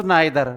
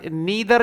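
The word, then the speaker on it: neither: तो यहां नीदर या नाइदर जो भी आप बोल सकते हैं क्योंकि दोनों ही इनके प्रोनाउंसिएशन बनते हैं। एक वीक फॉर्म एक स्ट्रांग फॉर्म तो स्ट्रांग वर्जन में नाइदर बोलते हैं और वीक में नीदर तो नाइदर वाज जोहन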